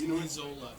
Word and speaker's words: Lizola: It's Lizola. Lizola is what the coach said.